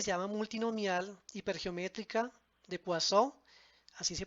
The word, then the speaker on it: Poisson: Hay otra que se llama multinomial, hipergeométrica, de Poisson, así se pronuncia, normal, la distribución normal, la distribución T de Student y la distribución Chi cuadrado.